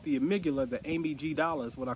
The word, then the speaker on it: amygdala: glands one called the amygdala the ABG dollars what I call it because it's spelled Amy G dollar amygdala they say is responsible